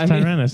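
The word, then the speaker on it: Tyranus: It's not Tenerus. It's Tyrannis, dude.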